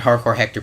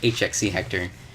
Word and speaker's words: HXC Hector: like I said, I'm HXC Hector everywhere. And HXC is shorthand for hardcore. So pronounce it Hardcore Hector, please. Don't call me HXC Hector.